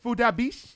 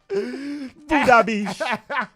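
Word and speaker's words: Phuc Dat Bich: on the radio, but it's spelled PHUCDATBICH. I don't know if you're allowed to spell that either, but but in all fairness, Fudabish. His name is Fudabish.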